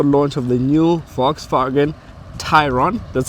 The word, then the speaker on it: Tayron: Today, I'm at the launch of the new Volkswagen Tayron. That's how you pronounce the car. Tayron, not Tayron. So VW has said we should tell you guys, the public, that it's actually Tayron and not Tayron.